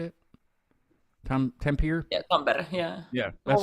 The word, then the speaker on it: Tampere: Tampere?